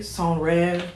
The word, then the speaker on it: Senreve: brand called san revere song red i think that's how you pronounce it i believe it is a french name i'm just taking that upon myself to pronounce it in french but they are a